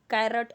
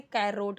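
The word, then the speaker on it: carrot: कैरट जो गाजर होता है उसकी स्पेलिंग ऐसे होती है इसी की तरह, तो बहुत लोग इसे कैरोट बोलते हैं, बट दोनों ऐसे नहीं बोलेंगे, ठीक है।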